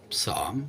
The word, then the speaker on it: psalm: Hey, our national psalm, we don't have an anthem, we have a psalm with a silent P, is Trits de Morgen,